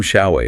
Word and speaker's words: Xiaowei: So saying, hi, I'm Xiaowei. It's pronounced like Showei.